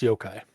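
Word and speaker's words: yokai: of the spelling, but it should be I'm pretty sure it's it's pronounced Yo-kai.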